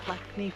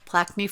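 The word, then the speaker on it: Plaikni: Plaquemine Falls Or Trail. Plaquemine. Well, it's N-I, not I-N-I. I think I was saying it wrong.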